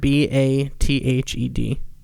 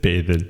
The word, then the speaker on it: bathed: let's say the word b-a-t-h-e-d oh i said bathe it but bathe oh okay bathed one one syllable wow all right do